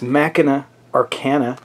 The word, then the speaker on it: Machina Arcana: of a prototype game, which I'm going to pronounce correctly this time. It's Machina Arcana.